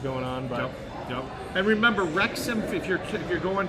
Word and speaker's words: Wrexham: to pull them up it starts with a w it's a silent w so it's w r e x u m soccer pull it up